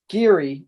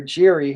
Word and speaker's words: giri: in later chapters and the term geary or jiri however you want to pronounce it okay that is basically